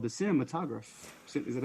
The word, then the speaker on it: cinematograph: and projector called the cinematograph. Is that how I pronounce that? Cinematography. Or cinematographer? Cinematograph. Cinematograph. Cinematograph. Graph. The time of my grad. Whatever. It's not cinematography.